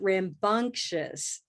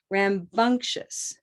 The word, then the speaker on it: rambunctious: children were rambunctious rambunctious color the color will help us master this word rambunctious rambunctious a cup of mustard rambunctious rambunctious there's a little sound here too we can call this rambunctious rambunctious there's a little black right there a little black okay rambunctious and so there's that also that kind of shin and shus okay and then a